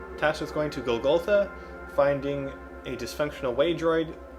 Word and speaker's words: Golgotha: now I am tasked with going - sorry Golgotha I've been mispronouncing it - was going to Golgotha finding a dysfunctional way droid repairing it and